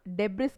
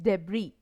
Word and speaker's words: debris: then beb are is I have seen so many students mispronouncing this word it is not Deborah's guys it is debris please learn the pronunciation